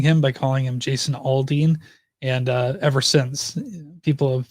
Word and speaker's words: Aldean: If you ever hear somebody say Jason Aldean, tell them they're wrong. It's Jason Aldean is the correct way to say it.